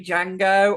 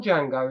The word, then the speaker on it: Django: and he spells it the D is silent that is actually yes